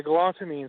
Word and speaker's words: galantamine: Am I pronouncing it right? It's galantamine? Yeah, galantamine.